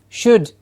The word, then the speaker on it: should: us will say should should it's not an it's an should yes the same as B ull whenever you don't remember what the target sound was go back to a smaller word which you got correct for example most of us will get B ull or PU ll pull bull correct bull pull Oh then say should then you get transfer